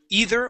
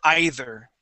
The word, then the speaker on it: either: middle all right so we want to say either or either okay however you want to pronounce that but give me a